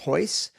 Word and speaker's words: Royce: Portuguese, when the R is at the beginning of the word, it's pronounced H. That's why you'll see it written as Royce or Rigan, but it's Royce and it's Rigan.